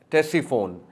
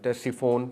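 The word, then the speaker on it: Ctesiphon: But that city is टेस्टीफोन। C silent है। सी टी ई एस आई पी एच ओ एन टेस्टीफोन पुरानी शहर पुरानी city है।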